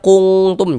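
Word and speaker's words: كنتم: Cara membacanya dibaca samar, bunyi nun sukunnya kita samarkan. Kemudian kita dengungkan juga, kita gunnahkan. Kuntum, jangan dibaca kuntum, jangan salah. Kuntum, seperti itu.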